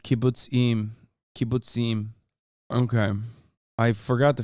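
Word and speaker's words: kibbutzim: be that guy JK I love to It's pronounced like kibuts IM kib okay I forgot to finish the [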